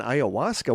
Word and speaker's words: ayahuasca: Somebody else says on ayahuasca once.